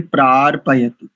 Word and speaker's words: प्रार्पयतु: कुछ 5-6 त्रुटियां हैं, जैसे प्रार्पयत, इस शब्द का उच्चारण करेंगे प्रार्पयत।